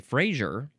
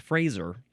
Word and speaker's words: Fraser: Um I would want to say Frasier, but it says you must pronounce it Fraser.